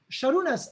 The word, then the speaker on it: Sharunas: So now we have Sharunas. Are you go? It's the right pronunciation, Sharunas. Yes, correct.